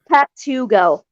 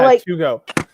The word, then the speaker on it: Patugo: How do you say it? Patugo. So Patugo. When you pull up to McDonald's and you're really hungry? Yeah. And you ask for it to go. So I'm the Patugo.